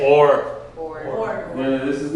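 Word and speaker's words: אור: Aleph is silent. Notice there's also no vowel here because what? Your vowel's here. Okay, so this is this vav becomes a what? O and resh. So everyone say or.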